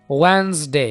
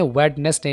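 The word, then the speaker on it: Wednesday: वेंसडे, इस word को आपने वेडनेसडे नहीं बोलना, वेंसडे।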